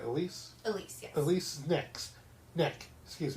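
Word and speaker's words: Elyse: I'm saying it right, Elise?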